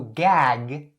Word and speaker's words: gag: So gag, when it is pronounced alone like this. So gag, it has 2 g sounds, right? So make sure that those sounds are really good in your mouth.